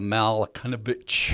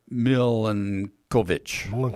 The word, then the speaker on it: Milankovitch: So, this axial wobble is one of several big cycles called the Malakanovich. I think I said it right. Cycles, named after the scientist Milutin Milankovitch. There we go.